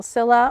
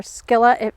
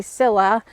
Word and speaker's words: Scilla: This next one I got is your typical Scilla or Skilla, depending on where you're from. I think in other countries they pronounce it Skilla. We usually say Scilla, and or also squill.